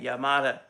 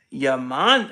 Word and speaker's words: Yamada: You pronounced it right, Yamada. Most people say Yaman.